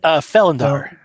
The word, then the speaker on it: Felendar: We had yourself, who was playing Fallender, right? Is that how you say it? Felindar. Fel, Felendar. I mostly just shortened it to Fel.